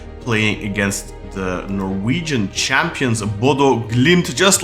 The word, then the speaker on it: Bodø: We say in Norway we say Bodø Glimt. Bodø.